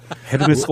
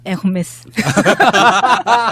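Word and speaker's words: Hermès: 아, 예, 그러니까 나도 처음에 이제 스펠링방 보고 헤르메스죠? 그랬더니 막 웃으면서 그렇게 하면 무식하다는 소리 듣는다고. 뭐라고 해야 되죠? 네, 에르메스. 그냥 콩글리시로 하면 에르메스입니다. 에르메스. 히읗 발음이 안 난다면서요. 묵음이에요. 묵음. H가 발음이 안 되니까 우리가 옴무도 홈무라고 안 하잖아요. 아, 옴무.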